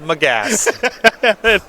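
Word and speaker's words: Magus: of the moon hey mcgas i'm a gas and it's pronounced mcgas our type of endurance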